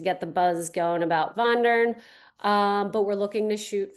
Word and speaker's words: Vondern: Vondern, it's spelled differently. So it's Wandern. Here's your German lesson for the day. Vondern is the way you pronounce it.